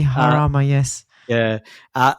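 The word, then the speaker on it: Jarama: So, race two of 12, which is the Spanish Grand Prix, or is that Drama? I'm probably not saying it right. Probably Harama. It's probably Harama.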